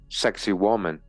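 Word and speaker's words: Sacsayhuamán: here the ruined Mountaintop Fortress of success pronounced sexy woman overlooks the ancient capital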